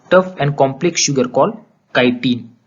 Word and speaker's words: chitin: There cell wall is made up of tough and complex sugar called काइटिन। अभी spelling CHITIN है, लेकिन इसका जो प्रोनाउंसिएशन है वो काइटिन है।